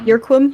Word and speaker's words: Irquim: IRQUIM. Yerquim?